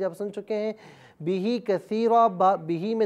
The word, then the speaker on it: كَثِيرًا: 2 زبر رن، کثیرن۔ اب یہاں پر آپ دیکھیں کہ الف آ رہا ہے 2 زبر کی تنوین کے ساتھ لیکن الف کو ہجے میں نہیں پڑھا جائے گا۔ وَيَهْدِي بِهِ كَثِيرًا۔ اب یہاں پر چونکہ